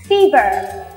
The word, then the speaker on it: fever: Fever và lúc các bạn viết ra thì sẽ rõ ràng thấy được Đây là âm i ch chứ không phải là âm e Ok chúng mình sẽ cùng nhau đọc nhá Fever very good Thêm Lần